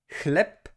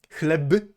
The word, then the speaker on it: chleb: It is pronounced with the voiceless counterpart, which means p, p, p. So, chleb. So, okay. Chleb is pronounced as if it were chleb.